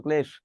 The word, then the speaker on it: ক্লেশ: দন্তার শয় ন ফলা আকার দন্তন্য স্নান, প দয় ম ফলা আকার পদ্মা, কয় ল ফলা আকার তারিবস্য ক্লেশ, দন্তার শয় ব ফলা লয় পয় স্বল্প।